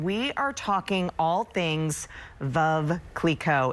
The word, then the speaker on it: Veuve: Veuve rhymes with love.